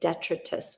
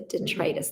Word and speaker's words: detritus: up the the detritus i used to say detritus when i read the word and um i like it better that way but i'll say it correctly the detritus the stuff that is